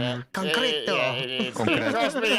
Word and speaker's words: concreto: It's just not pronounced the way you did, but it's the same. Yeah. Concreto.